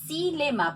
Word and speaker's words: xilema: x se pronuncia así dilema como si fuese una s cuál es el punto